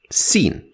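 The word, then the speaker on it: س: with the first one seen from the sound of it you can already guess that it is the S sound like in the word sir sir it is very similar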